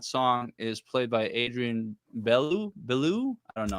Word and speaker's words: Belew: The synthesizer solo in that song is played by Adrian Belew. I don't know how you pronounce Adrian it. Belew.